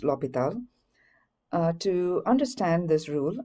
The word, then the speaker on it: L'Hôpital: Uh it's a French word. Uh so it's pronounced Lial.